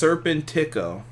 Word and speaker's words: Serpentico: it keep going forward rob says it's pronounced serpentico listen it's pronounced he's